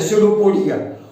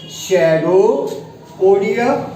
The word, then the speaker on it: pseudopodia: Locomotive जो organ है सेरोपोडिया, वो फॉल्स है। इसका जो है लोकोमोटिव ऑर्गन सीलिया, वो ट्रू है। तो लिख लीजिए इट हैज सेरोपोडिया, शेडोपोडिया, PSEUDOPODIA, शेडोपोडिया, P silent है।